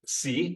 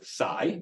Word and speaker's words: psi: This is the Greek letter psi or psi, okay, for psychology, because in Greek you should really pronounce it psychology.